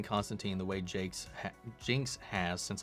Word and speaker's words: Constantine: the way I've been saying it, it's been Constantine. There's been such a flip on it. But apparently the proper pronunciation is Constantine.